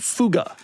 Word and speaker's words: Fuga: Nissan Fuga. It's pronounced fuga.